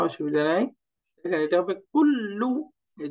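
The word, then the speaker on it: كل: দেখেন এটা হবে কুল্লু। এই যে কুল্লু, কাফ দম্মা লাম সুকুন কুল, লাম দম্মা লু, কুল্লু, কুল্লু, কুল্লু, এরকম।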